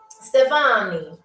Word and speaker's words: Stefani: Anyway, her first name is Stephanie with an I at the end. Stefani. Okay, that's how you say her name.